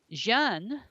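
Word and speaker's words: Jeanne: secular people as a Great Hero Of History Jean as you would say her name in French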